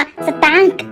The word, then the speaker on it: สตางค์: คอ ควาย นั่น เอง คือ เรา ไม่ ออก เสียง ควาย นะ คะ แต่ ถ้า เรา ไม่